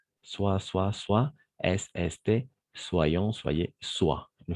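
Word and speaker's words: soient: On va prononcer soit, soyons, soyez, soit. ENT à la fin, on ne prononce jamais.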